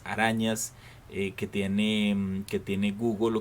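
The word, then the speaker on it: googol: término google proviene de la palabra google se pronuncia google creada por el matemático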